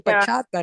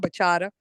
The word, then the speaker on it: bachata: I told you all it's bachata. It's bachata. Not baca.